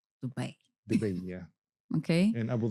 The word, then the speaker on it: Dubai: And how do you pronounce Dubai? Dubai. Dubai.